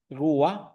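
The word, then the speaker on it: רוח: Y en el en el en el hebreo el espíritu es rua, así se pronuncia.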